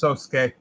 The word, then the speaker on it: Sasuke: can't read today no it is pronounced Sasuke okay what when it's when it's preceded by an S they don't pronounce the you I don't know thank